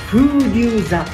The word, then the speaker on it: 風竜座: 風流座、風に龍、私の龍虎太郎の龍書いて風流座と読みます。